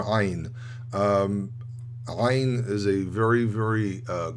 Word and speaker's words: Ayin: it might have been that Ayin doesn't have a sound. It's actually pronounced as an oh. So it's a very absurd sound again.